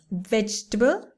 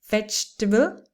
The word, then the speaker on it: vegetable: are difficult for people vegetable so the second e is almost another vegetable and schedule schedule okay